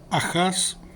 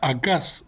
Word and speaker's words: Acaz: Esto es exactamente para lo que Dios llamó a un rey llamado Ahaz o Acaz o Achaz, ¿sí? Se pronuncia Acaz en realidad, para que confiara en